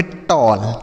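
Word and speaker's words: tall: double L इसे पढ़ेंगे टॉल टी A double L टॉल समझ में आया तो ए के बाद अगर डबल एल रहेगा तो ए का जो उच्चारण हो जाएगा वह औ के रूप में होगा ऐसा पढ़ेंगे ठीक है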